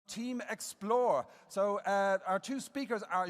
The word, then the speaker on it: xplr: We're both MBA graduates from Henley Business School, and together we're Team xplr, pronounced Explore.